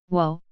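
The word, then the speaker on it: 워: romanization for this character is weo whoa sounds like the whoa on the word world next is we the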